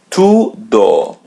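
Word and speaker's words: tudo: to As you see there's either u or u in Portuguese we pronounce it u to Do to do ask again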